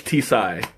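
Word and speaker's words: τσάι: Oh, you do pronounce the T. Okay, great. So it's T-Sai. Because I mean, in that kind of situation, it looks like a silent T.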